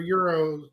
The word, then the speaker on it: gyro: It's euro. You said it right. Euro. G silent.